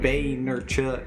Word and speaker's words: Vaynerchuk: yeah it's Gary Vaynerchuk how he pronounces the names like Boehner Chuck yeah but yeah yeah